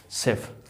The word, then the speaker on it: chef: Next हम लोग देखते हैं CH को हम लोग स भी पढ़ते हैं। ठीक है, कब, जब देखो CHEF, सेफ, है ना।